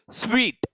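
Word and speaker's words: suite: Sweet, SUIT equals sweet बोला जाता है भाई, और truss.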